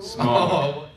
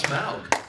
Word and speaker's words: Smaug: How do you pronounce the dragon's name? Smog. Smog is in that crappy air in LA? I thought it was Smaug.